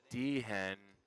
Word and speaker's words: D-Hen: Michael Dean, D-Hen, yeah, the H is silent, pocket tens.